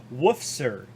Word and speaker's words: Woofser: And I've been informed it's Woofser, rather than my butchered pronunciation of it.